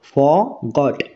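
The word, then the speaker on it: forgot: এই যে আর এই এই আর এই লেটার উচ্চারণ এখানে হবে না ঠিক আছে আর এর উচ্চারণ এখানে হবে না ক্লিয়ার আমরা কিভাবে উচ্চারণ করবো ফরগট ফরগট আই ফরগট মানে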